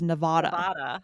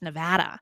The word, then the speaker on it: Nevada: So on the East Coast, I always thought it was Nevada. But it's actually, ask Jessica, she grew up there. It's Nevada.